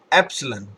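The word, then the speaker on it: ε: ये जो मैंने ऐसे लिखा है ई बनाकर, इसको हम प्रोनाउंस करते हैं एप्सिलॉन।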